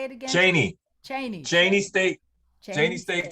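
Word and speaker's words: Cheyney: Cheney.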